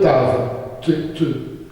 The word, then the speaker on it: Tav: Donc la première lettre qui est venue devant Dieu, se présenter devant Dieu, c'est la lettre en hébreu Tav, comme dans le mot Torah, la lettre qui se prononce T.